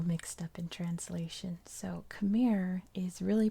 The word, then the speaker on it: Khmer: the my language but in english we say khmer and that's just because that's how um it is in the english language kind of like the capital